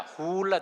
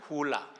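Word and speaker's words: hula: 훌라 댄스가 아니라 훌라 댄스. 입을 쭉 빼가지고 훌라 이렇게 발음을 해야 되는데요.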